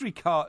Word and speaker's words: Ricciardo: It is Ricciardo. Ricciardo? Daniel Ricciardo. Ricciardo. That's how you pronounce it.